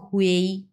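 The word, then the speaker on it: hui: এবং হয়ের সঙ্গে ইউআই বসছে, সো এটার উচ্চারণ হবে হুয়েই।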